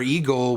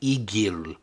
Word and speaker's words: Egil: in the cutscene where Eagle was like by the way I was pronouncing it Eagle last week it's definitely egil yeah where Eagle is